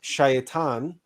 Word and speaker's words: shaitan: satan from the original hebrew shaitaan pronounced shaytan meaning adversary also shaitan in